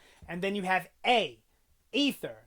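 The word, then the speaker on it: Aether: then you have a ether now I know it's pronounced ether but it's spelled a-e-t-h-e-r so a ether n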